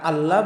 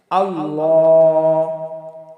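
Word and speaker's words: الله: কারণ আল্লাহ এটা হলো পুর বা মোটা হবে। আর আল্লাহ বললে এটা পাতলা হয়ে যায় এবং লামের উপরে এক আলিফ টান হবে। আল্লাহ আল্লাহ যখনই আমরা আল্লাহ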